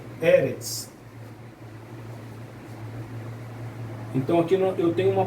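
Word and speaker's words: אֶרֶץ: Então vai ser Eretz, nunca vai ser Eretz, vai ser Eretz. A tônica vai ser na primeira, tá?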